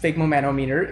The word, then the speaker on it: sphygmomanometer: Sphygmomanometer. Sphygmomanometer just makes an appearance. And yes, it's pronounced sphygmomanometer. It's really not. Sphygmomanometer. It's really not that hard to pronounce.